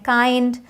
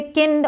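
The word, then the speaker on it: kind: और भी वर्ड्स हैं काइंड माइल्ड इसे किंड और मिल्ड नहीं पढ़ेंगे काइंड माइल्ड ग्राइंड वाइल्ड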